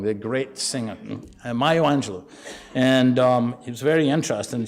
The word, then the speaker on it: Maya Angelou: that was the title of a book by Angelo, got her name wrong, the great singer, Maya Angelou.